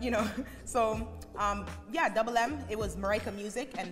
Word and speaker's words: DVBLM: getting the different and hey it's double m it's pronounced double m um the double m